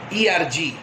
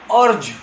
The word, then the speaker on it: erg: Many students and many faculties, they do pronounce as urge. It is not urge kiya hai. Usually, Urdu poet, they urge kiya hai. It is not urge kiya hai, it is erg.